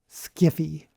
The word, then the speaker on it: sci-fi: In the 1970s, some science fiction authors and fans made fun of the term sci-fi and pronounced it as skiffy.